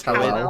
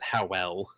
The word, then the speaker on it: Howell: Or is it howl or how well? What did you? It's how well. I pronounced it how well. Okay. I was thinking howl instead of howler. How well also works.